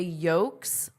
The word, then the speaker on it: yolk: They find their way into the yolks of eggs. Okay, what did you notice about my pronunciation into the yolk? Yolk. Of egg. The yolks of eggs. There's no L. It's totally silent.